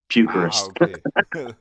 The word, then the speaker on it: Pukerist: Yeah, so it's like it's like Eucharist, the body of Christ, but it's to puke, so Pukerist.